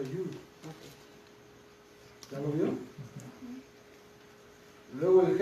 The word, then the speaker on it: Yod: Bueno, la mía dice Yod. Y-O-D. Entonces, Pero se pronuncia Yud.